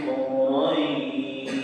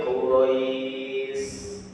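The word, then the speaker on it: قريش: Kita pahami dulu secara bacaan Li'ilafil Quraisy. Ini pakai shin bukan pakai sin. Jadi kadang-kadang ngapunten pas baca hafalan, baik itu dipakai imami atau yang lain. Li'ilafil Quraisy salah, bukan pakai sin, tapi pakai shin.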